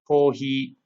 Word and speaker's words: コーヒー: So we have kohi, which is coffee, toire for toilet, or computer for computer. So you'll notice that these words sound very similar to the original word kohi, coffee, toire, toilet.